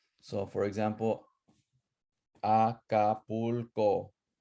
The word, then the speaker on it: Acapulco: So for example, Acapulco, right? Acapulco has four syllables, and you're gonna stress the second to the last one, right? Acapulco. It's not Acapulco or Acapulco. It's Acapulco. Tenochtitlan, Jalisco, Guadalajara.